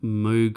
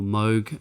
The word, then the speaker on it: Moog: We've got, again, OB6 basses, then we've got some Moog or Moog, I think Americans say it. It's funny because in Australia we say Moog, but apparently the rest of the world says Moog, so I have to